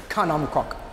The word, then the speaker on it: khanom krok: Kanom krok.